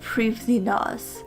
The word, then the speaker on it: Prifddinas: are really interesting also according to the wiki it's pronounced previnas gonna have to get